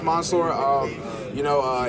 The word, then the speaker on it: Mansoor: Yeah it's Monsour. Um you know uh it's pronounced it's spelled with a a so I don't blame too many people. Uh but it's almost like O. So Monsur.